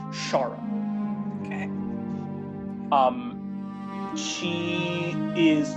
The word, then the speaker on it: Xarrah: So you actually know that the term Queen of the Nine is used for this female pact demon who's known as Shara. It's spelled Xarrah. Shara.